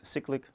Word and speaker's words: cyclic: called cyclic or ignorable some people pronounce it cyclic but i prefer i like cyclic cyclic sounds like secret that's the only reason why all right uh